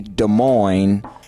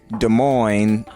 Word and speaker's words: Damoine: on Facebook under Des Moines pronounced like Des Moines Iowa Des Moines